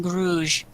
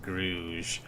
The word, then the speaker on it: Grog: And Grog kind of looks at you guys and he like, It's pronounced Gruge. yes, Gruge. And Grog Can I roll kinda- deception for that?